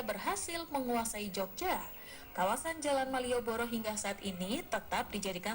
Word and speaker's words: Malioboro: pusat kota Jogja tersebut karena pengaruh pengucapan orang Jawa di mana huruf a dibaca o maka terdengar seperti Malioboro